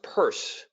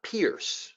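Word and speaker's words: Peirce: CS purse it's pronounced purse he is his name is spelled p i r CE note it it's not Pierce a lot of people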